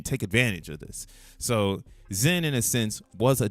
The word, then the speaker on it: XEN: Pronounced Sin with an X. Zen World.